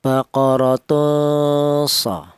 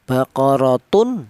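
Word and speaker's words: بَقَرَةٌ: Seperti contoh cara bacanya baqaratun. Jangan tanwin ini dibaca jelas atau idhar, baqaratun so, jangan, nggak boleh.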